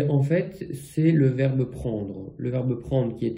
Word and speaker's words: prend: pas de T donc les trois se prononcent de la même manière prend prend prend et au pluriel on